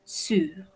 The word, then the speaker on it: sur: Sur. En este caso, si prononciamos la R.